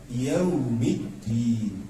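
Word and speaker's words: يوم الدين: Kalau sebelumnya Maliki Yaumiddin, bukan yaw ya Bu ya, kalau baca ejaan Arab tuh nggak ada Maliki Yaumiddin. Jadi dalam Arab itu tidak ada huruf vokal o. Wairil, tidak ada o, adanya yu, bukan yaw tapi yu.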